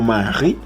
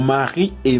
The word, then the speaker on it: Marie: Hay que darse cuenta también que aquí no se dice Marie, sino Marie. Es porque en francés la última letra casi no se pronuncia.